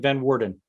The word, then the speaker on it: van Woerden: pronounce your last name I pronounce it van Warden then Warden or Warden Warden Warden like as in like the warden of uh whatever yeah with a slight